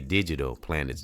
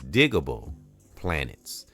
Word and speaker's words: Digable Planets: I used to say digital planets. It's digable planets and uh that's what's on the banner andor thumbnail.